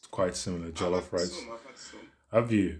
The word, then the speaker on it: jollof: Wait, why am I saying it in a British way? It's jollof rice.